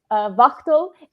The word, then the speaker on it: Wachtel: Wachtel, as we should pronounce it in the American German kind of way, the CTO of Thrilled